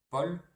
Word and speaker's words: Paul: AU, en général, non, tout le temps doit se prononcer fermé, sauf dans le prénom Paul, et rose se lit fermé aussi, pour d'autres raisons, pour la combinaison OSE.